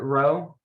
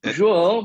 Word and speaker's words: João: Was it Ro? Is that how you pronounce it? It's João, but if you want. to call me, don't worry. No.